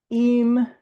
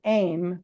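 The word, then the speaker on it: אם: now we go from IM or sorry aim which would be the proper pronunciation of of mother in the in the ancient pictographic Hebrew um we have a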